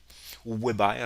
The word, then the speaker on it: weber: souvent on appelle ça des weber donc wb hoeber si vous préférez le prononcer comme ça c'est encore un autre